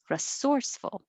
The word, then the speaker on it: resourceful: Number 6, resourceful. That one has to be that way. Resourceful.